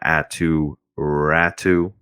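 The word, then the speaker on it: Aatu Räty: circling back to islander prospects let's talk about atu rattu that's how it's pronounced by the way atu ratsu not ratty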